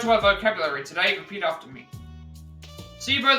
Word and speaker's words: placebo: Placebo, the stress is on the middle syllable.